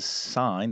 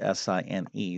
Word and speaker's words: sine: The sine, that's not sin, that's the sine. That's how we, it's spelled S-I-N-E, sine.